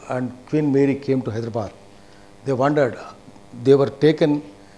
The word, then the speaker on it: Hyderabad: Delhi is Delhi, not Hyderabad. It is Hyderabad.